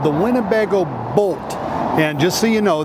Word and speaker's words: Boldt: It's called the Winnebago Boldt, and just so you know, that's spelled with a D, B-O-L-D-T, and it's not B-O-L-T if you're trying to look it up.